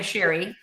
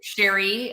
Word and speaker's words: Cheri: And by the way, it's it's pronounced the French way, Sherry. So, Sherry uh yeah, my parents